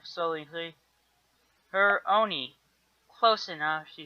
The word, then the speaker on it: Hermione: Hermione, she said slowly. Her Oni.